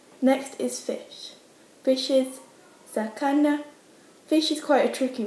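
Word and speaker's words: 魚: Fish is sakana.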